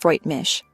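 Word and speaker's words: Freut mich: It's pronounced Freight Mish. So after Ben tells Anna his name, she could reply Freight Meek.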